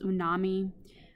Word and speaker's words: umami: And then the last one that's a little more recent is known as umami. Sometimes you hear it pronounced as unami. Either one works for me.